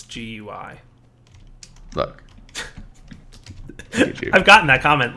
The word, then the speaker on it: GUI: you should know that it's not pronounced gooey it's it's an acronym so it's GUI look I've gotten that